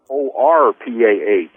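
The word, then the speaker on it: Orpah: was it originally well her real name is o-r-p-a-h or orpa orpa so they must miss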